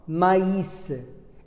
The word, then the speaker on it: maïs: I tréma, maïs. I tréma nous oblige de séparer les lettres. Il faut prononcer le A, le I, le S. On dit maïs, maïs.